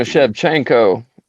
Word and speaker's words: Shevchenko: I'm gonna set my phone down and listen to you pronounce this one, and then Valentina Shevchenko versus Alexa Grasso.